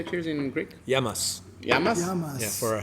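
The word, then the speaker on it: γεια μας: true how do you say cheers in Greek yamas yamas yamas yeah for our health ah it's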